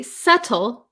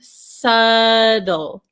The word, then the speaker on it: subtle: say subtle subtle um but in American English I'm from America in American English this te becomes a flap te so a flop T is when um it comes the t comes between a vowel sound and usually another vowel sound or we have the the dark l sound subtle subtle subtle okay